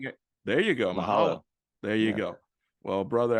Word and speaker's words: Mahalo: I think the word is mahala. Am I pronouncing it? There you go. Mahalo.